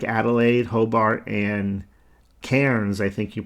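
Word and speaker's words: Cairns: Cities like Adelaide, Hobart, and Kairens, I think you pronounce it, maybe KS.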